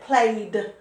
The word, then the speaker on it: played: the end doesn't it played played it has a d sound not ed just a